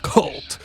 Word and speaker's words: KVLT: Let me introduce KVLT, pronounced cult.